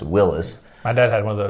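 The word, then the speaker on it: Willys: the side of it w-i-l-l-y-s i always thought was willy's but it's pronounced willis my dad had one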